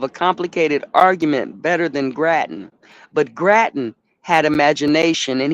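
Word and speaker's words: Grattan: Henry Graten.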